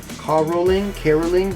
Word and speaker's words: caroling: you can have the caroling, but we pronounce the word caroling. Caroling. Caroling with the K-E sound.